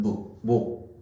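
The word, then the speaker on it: 目: 눈을 우리는 뭐라고 읽냐? 한자로 소리로 읽으면 목이라고 있습니다. 한자는 목.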